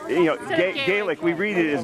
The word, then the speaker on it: Gaelic: You assume that it's Gaelic. No, he pronounces it garlic. Garlic. Again and again, he said garlic.